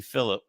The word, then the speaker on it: Phillip: be two weeks but Gabby Phillip I said it right without the S um from CNN which